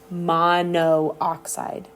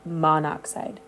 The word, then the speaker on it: monoxide: the over the a so that's why it's not called Mono oxide right it's called monoxide and it's really just about the the pronunciation in the speech of that so um if we